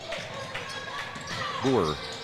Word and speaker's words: Boer: Boer is how it's pronounced.